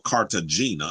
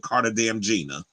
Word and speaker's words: Cartagena: he like to call Cartagena I'm like you a real American cuz you know Puerto Ricans do not pronounce it Carter damn Gina anyway so they said